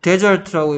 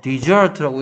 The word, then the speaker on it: desert: 그 다음에 이제 얘를 데저트라고 읽으면 사막인데 디저트라고 읽으면 무슨 뜻이던가요? 그렇죠. 버리다죠. 버리다. 됐습니까? 디저트라고 읽으면. 그리고 디저트라고 읽으면 누구하고 똑같다? D-E-S-S-E-R-T하고 발음이 똑같다. 그래서 don't desert the dessert 하면 후식 버리지 마세요.